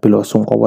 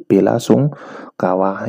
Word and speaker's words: bela sungkawa: Ya tulisannya ya bukan, atau bacanya ya bukan belo sungkowo dalam bahasa Jawa. Tulisannya atau pelafalannya karena sudah diserap ke dalam bahasa Indonesia ya menjadi bela sungkawa, yang artinya itu adalah turut berduka cita.